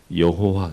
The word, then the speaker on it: 여호와: 야훼는 히브리식으로 그냥 그대로 발음을 한 거고 여호와 이렇게 영어식으로 할 수 있어요.